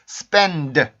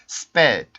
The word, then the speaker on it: spend: N 발음 뒤에 D가 오는 경우에 학생들이 N 발음 소리를 안 내고 sped, sped 이런 식으로 발음하는 경우가 있거든요. 그러면 이거는 N 소리가 빠졌기 때문에 이 단어를 뜻할 수가 없습니다.